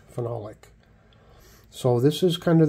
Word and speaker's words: phenolic: It's phenol with an O, lick, phenolic.